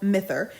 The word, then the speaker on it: Myther: I keep wanting to pronounce it Myther, but in the story, it says that the word Myther comes from the word mythology. So surely it's pronounced Myther then, right?